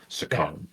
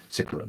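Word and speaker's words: Sicaran: Potentially a whole new chassis type of a vehicle, Sakaran being one of those. Sikaran, rather, I discovered it's pronounced.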